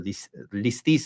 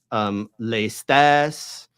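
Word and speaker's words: λῃστής: Like, that's just the way that over the centuries it started out maybe as lestes, and then became listis.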